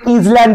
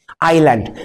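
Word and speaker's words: island: আইল্যান্ড মানে কি দ্বীপ এটাকে ভুল করে ইজল্যান্ড বলিও না এস এর উচ্চারণটা হয় না সাইলেন্ট থাকে আইল্যান্ড তাহলে কি হলো ইংল্যান্ড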